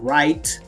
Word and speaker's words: write: Por ejemplo, write, se escribe rite, pero esa E no se dice, se dice write, hasta la T, le